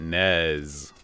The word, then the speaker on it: NES: say the UK you you pronounce it Nez like with a z but we always said NES or Ness because that's just there's